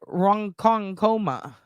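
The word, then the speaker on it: Ronkonkoma: Uncle Bob too wild I thought I thought you say it Rong konga Accent on the Kong Ron Kong R Kong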